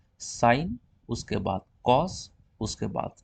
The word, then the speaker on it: sin: First, साइन, SINE, उसका abbreviation खाली आगे ई उड़ा दो, साइन, प्रोनाउंसिएशन वही रहेगी।